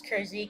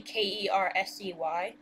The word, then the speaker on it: Kersey: So, because my last name is Kersey, KERSEY, and sometimes with like passwords or usernames, we'll spell it KERZ, and like, but I put it like as a capital Z, so it's not like Kers, it's Kersey, and then the little